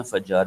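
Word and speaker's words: فجار: उर्दू में, जी जी, उर्दू में फज्जार पढ़ा जाता है।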